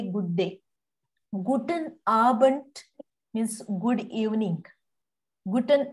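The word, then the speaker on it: Abend: a good evening see I did not say guten aband I say guten abant abant when is D comes end of the word you have to pronounce like T Gooden abant Gooden talk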